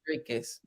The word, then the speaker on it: Dreekus: It looks like Jerry Gus, but it's Yeah. pronounced Dreekus.